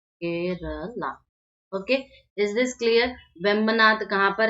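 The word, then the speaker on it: Vembanad: ठीक है, और ये इसका नाम है वेम्बनाद।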